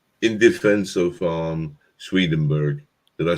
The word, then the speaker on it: Swedenborg: just want to say in defense of um swedenburg did i say it right it's yep it's